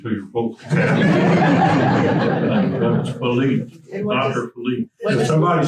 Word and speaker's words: Watervliet: And it's interesting that we pronounce it the way they pronounced it in the 17th century with an epithetic vowel.